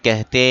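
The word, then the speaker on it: کہتے: তাসির অর্থ প্রভাব এরপরে বাক্য রাসূলকে কালামক হাদিস কেহতে হে কেহতে কাহতে হে না আবার কি হেও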